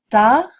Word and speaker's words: tard: ne se prononce jamais tard grand un placard on n'entend pas le T le D non plus